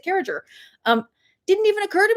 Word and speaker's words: Carriger: I was like, I thought everybody pronounces it Carriger. Turns out, no, uh, no, there's a lot of people who pronounce it Carriger.